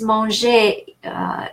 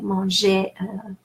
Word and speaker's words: manger: And knowing verbs, you definitely know that, for instance, manger, the infinitive, je veux manger du pain. Manger is in infinitive ER, we pronounced E.